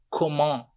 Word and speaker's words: comment: Comment. T não é pronunciado.